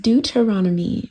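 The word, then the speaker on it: Deuteronomy: you guys my apologies I said the word wrong again it's pronounced du teronomy my bad y'all my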